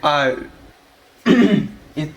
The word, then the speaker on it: ui: і букви і отримуємо Воно читається як А І наприклад саме це слово